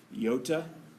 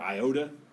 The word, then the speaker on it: iota: I'm going to use the Greek letter for I, which is iota, or iota, depending on how you pronounce it.